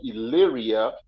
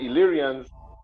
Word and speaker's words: Illyria: Albania it was called Illyria uh which the uh also called illyricum and and the word Illyria it the if it's pronounced like I the I is pronounced like the letter E in English so when they say